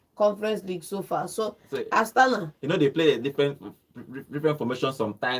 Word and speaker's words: Astana: Before we call it a day, they are going to play Astana. Did I pronounce that name well? Astana, yes, Astana.